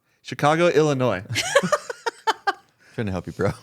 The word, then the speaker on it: Illinois: And in January You 2024, don't pronounce the S in Illinois. Chicago, Illinois.